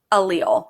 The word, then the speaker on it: allele: but turn on sale allele allele is how we pronounce it so what then it